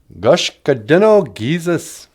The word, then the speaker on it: Gashkadino-giizis: how you say it in the language um gosh Kadena Jesus gosh Kadena Jesus gosh Kadena was like freezing